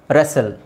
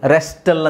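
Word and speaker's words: wrestle: okay ಆಮೇಲೆ ಇಲ್ಲಿ ನೋಡಿ ರೆಸೆಲ್ ರೆಸಲ್ ರೆಸ್ಟಲ್ ಅಂತ ಹೇಳಲ್ಲ ರೆಸಲ್ ವಿಸಿಲ್ ವಿಸಿಲ್ ಹೊಡಿತೀವಲ್ಲ ವಿಸಿಲ್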